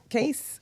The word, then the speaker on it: Cayce: Sylvia Browne Sylvia Browne and then Edgar Cayce case our case well Edgar Cayce I mean it's